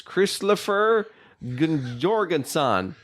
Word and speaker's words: Kristoffer Jorgensen: His name is very easily to pronounce. It is Kristoffer Jorgensen. Christopher Jorgensen.